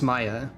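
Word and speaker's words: Yx'Maja: in IX Maya it's Maya I was closer the first time I said it because I accidentally misread the J as an I but that's how we're pronouncing this J as is done sometimes or rather could be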